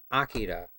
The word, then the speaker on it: Akira: I always thought it was Akira because of the movie, but even in the movie they say Akira. So that's how I pronounce it.